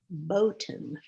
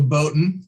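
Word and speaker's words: Boughton: it for you and it was pronounced botan but as we all know o u g h plus t can be pronounced a thousand different ways maybe not a thousand but an awful lot i'm happy to try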